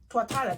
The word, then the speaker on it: Tuatara: So that's what it is, this characteristic Tuatara.